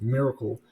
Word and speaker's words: MRKL: Now, MRKL systems, modular reasoning, knowledge, and language pronounced miracle, are a neural symbolic